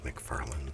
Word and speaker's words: McFarlane: you all my Todd McFarlane Spider-Mans. The artist, he was my favorite at the time. I always called him Todd McFarlane, like Lynn. You can read it. Signature. It's Lane. McFarlane. Is it the whole world